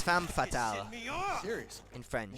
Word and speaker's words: femme fatale: That's not how you pronounce that. It's femme fatale Me off.